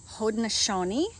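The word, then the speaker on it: Haudenosaunee: there's the let's see my neighbor just taught me how to pronounce this yesterday hodneshoni which is the name of the group of local native american tribes from this area these are haraneshoni skunk beans also anasazi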